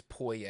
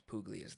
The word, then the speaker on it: Puglia: Yeah, the whole it's Poya. Everyone says Puglias though, so I just refer to it as Puglias. What is it Um, actually? it's Poya.